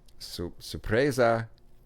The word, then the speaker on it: sorpresa: So today I came in to the office and I said, sorpresa. I said surprise, but they told me how to say it better.